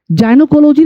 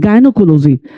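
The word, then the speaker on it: gynecology: पा रहे हैं क्योंकि एक्सेप्शन है जैसे जी वाई एन ई सी ओ एल ओ जी वाई गनोकोलॉजी नहीं गायनोकोलॉजी अच्छा गायनोकोलॉजी या गननेकोलॉजिस्ट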